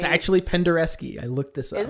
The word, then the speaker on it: Penderecki: noseness of using and ILX expects me to pronounce this correctly, the Krzysztof Penderecki. I'm sure I did that right. No, it's actually Penderecki.